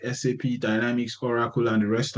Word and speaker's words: SAP: as a word called SAP. No, in industry we don't say SAP. It's an acronym. So we pick the words one by one. So we call it SAP and SAP stands for systems one, applications two and product three.